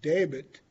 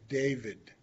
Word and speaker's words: David: So there's no way for us to pronounce it with that V. So we change it to David instead of David, because that V does not exist in our language.